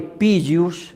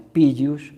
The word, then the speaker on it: Pigius: personal, al igual que Pigius en latín, creo que mal pronunciado Pigi, dicen algunos, no, es Pigius en latín, un grandísimo teólogo, él